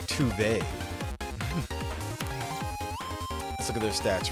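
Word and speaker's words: Tove: Toad. Or, so friends have told me, her name is actually pronounced Tuve.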